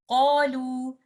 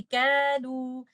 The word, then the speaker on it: قالوا: So the common mistake that people can make while reciting this is if they don't do isti'ala here, then they can make this letter qaf as if this is letter kaf, and they can say kalu.